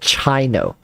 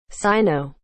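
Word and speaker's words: Cyno: even saying is it right Sino or is it China like I I swear I'm gonna ask Google Google Translate all right pronounce this for me please um pronounce this for me Google Sino Sino Sino there it is imagine if his name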